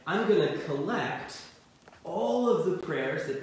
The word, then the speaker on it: Collect: And that prayer is called the Collect, or it's spelled like collect.